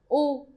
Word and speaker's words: u: It's very similar to English. Is just a little bit longer sound. Oo.